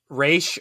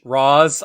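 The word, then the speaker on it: Ra's: course of the algul who shall forevermore be mispronounced by everybody um you see how i dodged that right race roz i've heard both uh yeah he goes both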